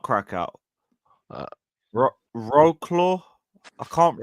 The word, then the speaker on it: Wrocław: Wrocław. That's how you pronounce. Okay, cool. Wrocław.